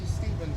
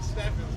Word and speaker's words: Stephens: another YouTube guy, JB Stevens, right? Yep. He pronounced it right. A lot of people are saying Steffens, but So where are you from?